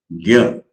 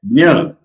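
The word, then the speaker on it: ज्ञ: There is a Sanskrit word, gya. Gya means, that is how the North Indians pronounce it. And Maharashtrians pronounce it as if the plus na plus yo, Jnaneshwar. And they think that Jna is correct and this Gya is wrong. In the south, if you go, they say Gnana, Gana. Now, why all this? Because the original sound is little difficult to pronounce. And that is Ja plus Ya.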